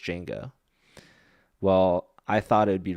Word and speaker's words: Django: Okay, so there's a so Django is spelled DJ, but you don't pronounce the D, and I'm pretty sure they like say that in the movie where people are like calling him Django or something, and he's like the D is silent. It's just Django.